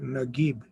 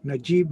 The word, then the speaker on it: Naguib: the cause sound so in rest of the islamic world he's called najib but in the egyptian arabic he's called nagib so keep that distinction in mind if you hear that someone pronounced it najeeb mehfuz that is also correct and these listening linguistic